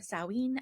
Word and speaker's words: Samhain: October, as we get closer into Halloween, or Samhain as it is pronounced by some people.